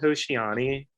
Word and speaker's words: Hoshiani: is uh so congratulations on your upcoming album hoshiani did i pronounce that properly so i keep sending this yeah that is properly it was gonna be called hoshiani and i left it like that on the